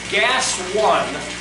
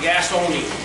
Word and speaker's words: Gas One: And I found at Home Depot, this element here, it's by Gas One, the way they spell it, though it looks like they're saying gas only, or gas owned. but it's gas one.